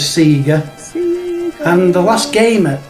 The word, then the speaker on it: Sega: we can get pedantic about it could be sega as in like a different pronunciation of the e well it it's not